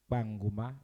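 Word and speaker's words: Kpanguma: Banguma, it's spelled K-P-A, not P-A.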